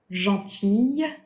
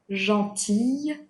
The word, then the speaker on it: gentille: We do pronounce the y sound when it is feminine, gentille, gentille, but we do not pronounce the L when it is in its masculine form, gentil.